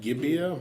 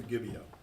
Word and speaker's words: Gibeah: Gibeah? Gibeah, thank you, as they had done before.